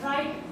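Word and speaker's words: right: आवाज नहीं इस तरह राइट ma'am are आई जी एच टी जी एच we middle फिर उसकी आवाज साइलेंट हो जाती है राइट जी एच की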